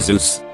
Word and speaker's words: Zeus: presentation a kid asked you to know it's pronounced zeus right jesus christ i'm dead i was taking